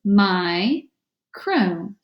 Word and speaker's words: micro: analysis of this word this is a two syllable word and it breaks right after the eye so I have two open syllables my crew all right background knowledge